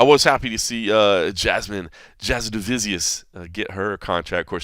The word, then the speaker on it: Jasudavicius: By the way, Jasudavicius is the proper pronunciation of her last name, so they were saying it right on there.